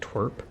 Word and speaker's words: TWRP: Ninja S not say so party and TWRP is pronounced twerp.